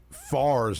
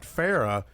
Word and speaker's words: Far: had to pronounce Andrew far's name right he kept emphasizing he said hey man it's far like far away not Farah it's far and he I'm like